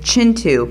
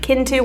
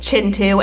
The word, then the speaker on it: Kintu: I called it Kintu when it is in fact Chintu.